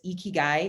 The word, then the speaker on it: ikigai: It's ikigai is how you say the part in the center.